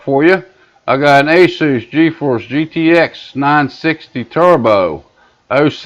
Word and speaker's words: Asus: I know different people got different ways of pronouncing it. I say Asus.